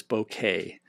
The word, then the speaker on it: bokeh: I believe that it is bokeh, and I always say it wrong. Okay. actually, so it's because I think it comes from Japanese, and I believe the correct pronunciation is GIF.